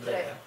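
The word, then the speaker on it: Dreher: Дрейер, правильно он считает? Читается? Да, Дрейер. Дрейер был популярен в Баварии,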